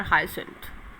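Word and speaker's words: hyacinth: उनको aquatic animals, जैसे कि कमल और water हाइसिंथ। We will pronunciate इट हाइसिंथ।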